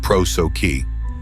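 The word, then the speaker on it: prosoche: The Stoics developed a powerful daily practice they called prochi, pronounced proi, constant attention to the present moment and vigilant discerning monitoring of your thoughts.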